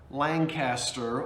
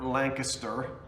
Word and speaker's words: Lancaster: to ephrata outside of lancaster or lancaster depending on how you like to pronounce it vintage vinnie is going